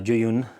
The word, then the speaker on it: Zhiyun: to be said but the closest i could find was uh you pronounce it somewhat like ju you and westerners kind of